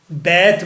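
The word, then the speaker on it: Bath: The wife of बैथ, बैथ बोलना है, pronunciation ठीक करनी है।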